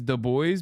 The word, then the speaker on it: Du Bois: Anyway, the correct way to pronounce his name is Du Bois because he wanted to distance himself from his original surname.